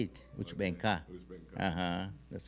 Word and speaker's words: Uchbenka: Well, that I can't say it because when I grew, I heard that's how they say it, which benka.